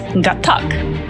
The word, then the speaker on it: Gatac: No, it's Gatac. That's how you say it.